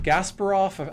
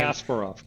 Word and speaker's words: Kasparov: If you remember back in the day when IBM Watson beat is it is it Gasparov? I'm mispronouncing his name. Kasparov.